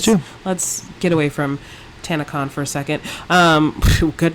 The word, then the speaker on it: Tanacon: that's Anna yeah Graham can't anagram Khan actually tannic on folks it's actually nothing now but that's a